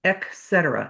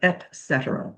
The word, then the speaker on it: et cetera: The other one was, I've heard people say etc. instead of et cetera.